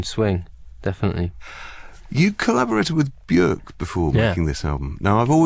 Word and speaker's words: Björk: I'd love to meet her, but what's the proper way to pronounce her full name? Björk.